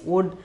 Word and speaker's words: उड़: The pronunciation is wood.